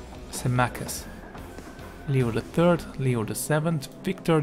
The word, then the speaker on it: Symmachus: Yeah, that's how you pronounce that name. Symmachus.